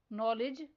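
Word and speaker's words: knowledge: Next word है people. इसमें silent letter ओ पर सर्कल करना है।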